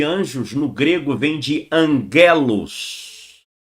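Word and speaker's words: ἄγγελος: A terminologia de anjos no grego vem de angelos. Tem lá um acento ango ou angelos, angelos. Mas a pronúncia é angelos.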